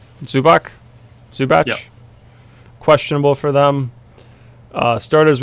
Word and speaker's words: Zubac: Zubac?